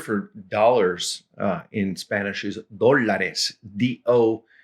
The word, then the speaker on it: dólares: dollars in Spanish is dólares, D-O-L-A-R-E-S, with an accent on the O there at the front. So you're supposed to say dólares.